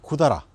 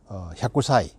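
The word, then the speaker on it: 百済: 백제는 제가 이전에 그 백제왕 신사와 백제 대사 앞에서 이제 잠깐 말씀드렸다시피, 백제라는 말은 이제 구다라 또는 이제 샤쿠사이, 예, 이렇게 이제 보통, 예, 불려지고 있는데요.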